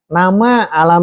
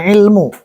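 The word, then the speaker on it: علم: mau nama apapun juga ini bacanya alam ya bukan ilmu tapi alam nama diri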